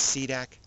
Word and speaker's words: SDC: from the UNF cold the SDC pronounce c-dac its mission is to